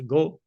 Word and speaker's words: GHO: of the a governance is pronounced go uh so the AG is muted um we uh in